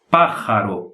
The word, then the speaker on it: pájaro: Então, essa palavra se pronuncia pájaro, como se fosse uma R forte. No sotaque, pode ser que alguns falem pájaro, alguns carraspeiem mais, fazem inclusive pájaro, pájaro, reloj, mas se pronuncia assim, pájaro, ok?